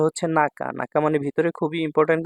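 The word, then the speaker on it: 中: যখন সিঙ্গেল থাকবে single single থাকলে শুধু নাকা উচ্চারণ হবে নাকা অর্থ ভিতরে আর যখন অন্য কাঞজির সাথে মিল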